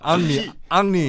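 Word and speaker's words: Henri: 파리 H라서. H. H. 앙리. 앙리죠. 헬리를 앙리로 하듯이. 그러니까 묵음이야.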